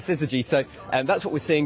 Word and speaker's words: syzygy: I was lacking in confidence when it comes to its pronunciation, so thank you. That's right, syzygy.